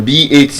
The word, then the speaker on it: bath: As a noun, it has the voiceless th sound. Looking like a tether. As a verb, it's bathe. The voice th.